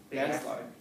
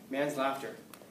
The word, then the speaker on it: manslaughter: Manslaughter. Yeah. Man's laughter. Man's laughter? Manslaughter. Oh. If you just emphasize different syllables, it's man's laughter rather than manslaughter.